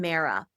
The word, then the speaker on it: Mara: There's one a woman named Mara and rhymes with Sarah and she had moved